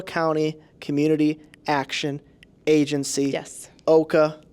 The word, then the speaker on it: OCCAA: Community Action Agency yes Oka like mocha yes rhymes with mocha rhymes with mocha don't